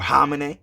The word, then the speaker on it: Khamenei: Israel strikes that killed Supreme Leader Ali Khamenei, or Khamenei, some people say, right? I think that might be the true way to pronounce it, Khamenei, right?